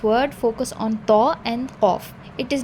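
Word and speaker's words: ق: So it is not kha, it is qa. All sound should be present, like I say claw, flaw, law. So all sound should be present when you are pronouncing qaf.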